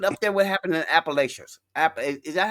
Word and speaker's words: Appalachia: But my thing is this: look at up there what happened in Appalachians.